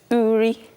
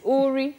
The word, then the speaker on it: Uri: I'll start by correcting the way you pronounce it. It's called Uri. Uri? Yeah, it's so Igbo. It's not Uri, it's Uri? Uri.